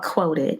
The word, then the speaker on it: Kwooted: So before I did The Unhappy Wife, I published an ebook of quotes, and it's called Quoted, and it's spelled Kwooted.